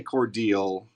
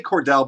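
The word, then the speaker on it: Cordele: a city in georgia we say cordial no we say cordell but it's spelled with one l c-o-r-d-e-l-e spell kind of weird and it's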